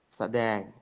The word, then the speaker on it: sedeng: Sedeng. Sedeng. Kayaknya huruf eng aja itu ya. Tidak ada huruf K di situ. Jadi itu ngongu, itu bacanya memang ngeng, mendengung gitu ya.